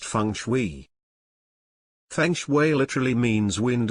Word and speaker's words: Feng Shui: and connectivity known as Feng Shui pronounced Fung Shui Feng Shui literally means